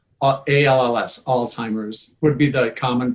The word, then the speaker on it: Alzheimer's: like an alts altz Alzheimer's a little more but the common pronunciation is just alz like alls alls Alzheimer's would be the common